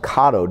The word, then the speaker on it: Cotto: The Cotto study, and her name is pronounced Cotto, Deborah Cabo, Cotto.